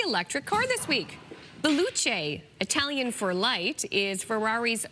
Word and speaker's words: Luce: it's called, it's spelled L-U-C-E, and I bet you it's not pronounced loose. So I'm going to look it up. Luce.